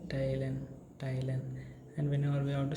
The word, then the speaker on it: teilen: So again E and I combination is present here, so it becomes E and I gives rise to the sound of I, right? So TILEN, Thailand, it becomes the word pronunciation of this word becomes Thailand.